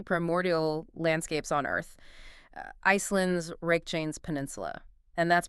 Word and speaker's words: Reykjanes: the most fiercely primordial landscapes on Earth, Iceland's Reykjanes Peninsula. And that's pronounced Reykjanes.